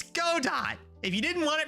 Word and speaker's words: Godot: You use Godot though, huh?